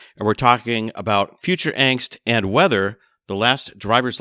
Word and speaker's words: Angst: I can't wait to dig into things with you because I've always wondered, what is the correct pronunciation of angst? Is it angst? Angst?